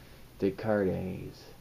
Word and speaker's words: Descartes: No, you don't pronounce the S. Descartes.